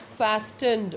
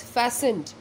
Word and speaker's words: fastened: right now this word it's not fast 'end okay it's go fast and coining padega it is fastened the pronunciation of this word is fastened the yard outside the